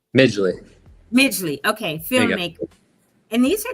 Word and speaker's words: Midgley: Pronounce it. It's Midgley, right? Midgley.